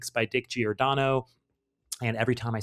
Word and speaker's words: Giordano: And they very kindly corrected us and said it should be pronounced Dick Giordano, not Giordano.